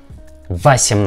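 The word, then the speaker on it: восемь: nothing it isn't correctly we pronounce like vasim not vasim not vasimnati okay one more we see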